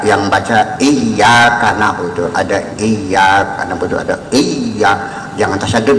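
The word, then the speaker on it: إِيَّاكَ: Iyyaka na'budu wa iyyaka nasta'in. Mungkin kita sadari bahwa ada yang baca iyyaka na'budu, ada iyyaka na'budu, ada iya, jangan tasyadud ya, jangan iya, langitnya ada berapa.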